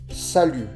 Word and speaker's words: salut: Le T final ne se prononce pas. Salut.